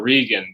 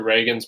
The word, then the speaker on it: Regan: I always want to call her Regan because if you hear some reviews, people will pronounce it as Regan.